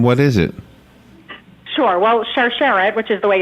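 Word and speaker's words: Sharsheret: Well, Charcharette, which is the way it's pronounced, is actually the Hebrew word for chain or necklace.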